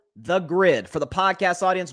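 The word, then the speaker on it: Gryd: podcast network called The Grid. For the podcast audience, Grid is spelled G-R-Y-D, The Grid.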